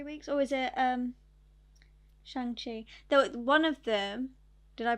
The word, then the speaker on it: Shang-Chi: Or was it Shang-Chi? One of them, did I pronounce that right? Yeah. Shang-Chi.